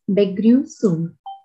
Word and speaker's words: Begrüßung: Word is pronounced as Begrüßung. A so sound comes. Begrüßung.